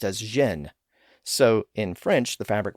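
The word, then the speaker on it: Gênes: In French the city of Genoa is pronounced as Xen.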